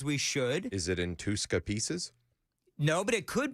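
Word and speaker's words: Touska: Is that what you'd call it, Tuska? I would say that's the pronunciation, yeah.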